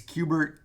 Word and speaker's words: Kubert: be Adam Qbert and I always resist the urge its Qbert KUB ERT and you know that's